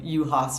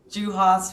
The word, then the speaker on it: Juhas: is the pronouncing the how you pronounce my last name, UAS, which is a hard one. I get it cuz I get juas huhas, all kinds of funny names, so I'm used to it.